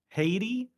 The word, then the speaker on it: Haiti: I um Yeah, Haiti would be how you say it as an American, which is not right because we can't say anything right, but we try.